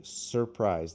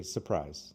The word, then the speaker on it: surprise: It is spelled surprise, but almost no American English speakers say surprise. They say surprise. They cut the R.